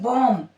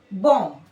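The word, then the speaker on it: bomb: ऐसे हम पढ़ते हैं बॉम्ब, ब नहीं प्रोनाउंस करना है, बॉम्ब।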